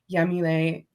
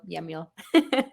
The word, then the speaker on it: Yamile: platforms on my website I know that I pronounce the Y like an sh but it's spelled yamil yamil es Mendes everywhere Saria